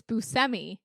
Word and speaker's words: Buscemi: She was always like, yeah, it's Buscemi, but no one's going to pronounce it like that.